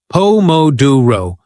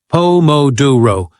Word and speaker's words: Pomodoro: We stress the second syllable, pouro, exactly like Italian chefs. Nailing stress patterns makes your English sparkle with authenticity. Say it with me three times. Pomoduro. Pom moduro. Pom moduro.